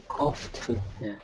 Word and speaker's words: coughed: He coached 커프트. himself. 예, 아워. GH가 F 발음 나는 커프. 경우가 있어요. Coughed.